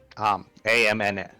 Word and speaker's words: Amn: How do you pronounce that? AMN.